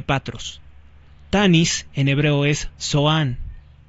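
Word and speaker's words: צֹעַן: la ciudad de patros Tanis en hebreo es soan y en la Biblia vulgata se pronuncia como tapnis aquí le llamamos Tanis pero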